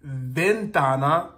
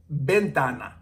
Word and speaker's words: ventana: letter v V but we're not going to say it like Ventana as you would you know think of the the V sound in English but we're going to say it more like bentana bentana so bake bentana but